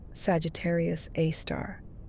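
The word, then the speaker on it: Sagittarius A*: And at the very heart of the stellar congregation sits Sagittarius A, pronounced Sagittarius A star, a super massive black hole containing about 4 million times the mass of our sun.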